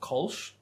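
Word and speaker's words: Kölsch: So, pronounced Kolsch.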